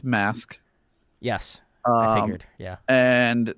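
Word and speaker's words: MVSK: is a bside from their debut uh it's pronounced mask yes I figured yeah and this is a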